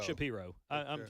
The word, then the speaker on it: Shapiro: Shapiro or Shapiro? Shapiro.